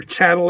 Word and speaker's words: chattel: years, as corporate slaves, or chattel as they like to call us, rhymes with cattle, because we're beasts of